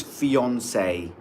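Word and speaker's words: fiancé: So this is fiance. Fiance. Fiance. Fiance. Fiance. Fiance. Americans say it differently. They say fiance.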